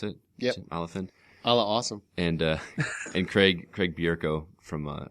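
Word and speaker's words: Olyphant: Is that how you pronounce it? Yep. Tim Oliphant.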